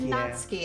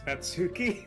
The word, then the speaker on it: Natsuki: natsuki or is it natski actually I'm like 99% sure it's natsuki okay just when I first played the game I accidentally said natski and it stuck my head okay Nat I've said your name wrong for two videos in a row now girl I'm so sorry